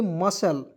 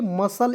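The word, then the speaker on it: muscle: तो दोस्तों इसे पढ़ेंगे मसल देखिएगा क्या पढ़ेंगे मसल इसमें सी को साइलेंट कीजिएगा एम यू एस सी एल ई मुसल नहीं पढ़ेंगे मसल पढ़ा जाएगा क्योंकि यू को हम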